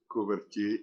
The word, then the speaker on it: Kooverjie: Kooverjie. You must just tell me whether I'm pronouncing your surname correctly.